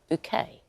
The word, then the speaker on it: Bucket: the relentlessly snobbish Hyacinth Bouquet, even though it was spelt as bucket, we all said bouquet, as her character pronounced it.